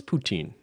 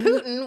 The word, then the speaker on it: poutine: That's the poutine I have the most experience with.